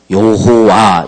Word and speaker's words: 여호와: 이게 단어들이 역다 보니까 오늘날 우리까지 모음자를 넣어서 발음을 하려고 하다 보니 여호와 이렇게 번역됐고 그 앞에는 예호바 이렇게 이제 해게 됐습니다 그게 이제 우리말로 우리가 쉽게 번역 되다 보니까 여호와 이렇게 이제 번역이 돼 온 거예요 근데 오늘 지금